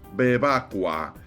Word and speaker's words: Bevacqua: Su apellido se pronuncia Bebca y en italiano quiere decir bebe agua.